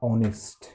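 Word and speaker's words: honest: ईमानदार का इंग्लिश होता है ऑनेस्ट। एच से शुरू होता है लेकिन ओ से पढ़ा जाता है, एच साइलेंट रहता है।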